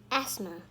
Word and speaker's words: asthma: That's because the th in the middle is silent, so it's easy to forget about it.